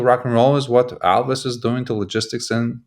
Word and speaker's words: Alvys: and why uh but the best way to remember how to pronounce a company is think of Elvis we often like to say what Elvis did to rock and roll is what Alvis is doing to Logistics